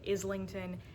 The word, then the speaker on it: Islington: I first listened to the audiobook of The Will of the Many, which pronounces it Islington. It is what I originally thought, Islington.